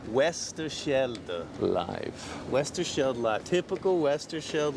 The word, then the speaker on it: Westerschelde: Westerfield? How do I say it? What? The YouTube channel name? Westerschelde. Westerschelde.